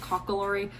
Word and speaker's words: Kokkaloorie: installment of the pronounced cocklery i should know that um it's kind of embarrassing but that's a shetland dialect word and i don't speak a shetland dialect so it's spelled like